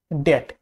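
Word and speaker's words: debt: তারপর হচ্ছে ডেট, ডেট টি এর আগে ডেট, আমরা কিন্তু ডেপ্ট বলবো না ডেট।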